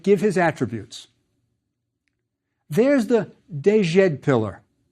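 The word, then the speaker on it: djed: There's the dejed pillar. It's a biliteral for the sounds J and D. Dejet.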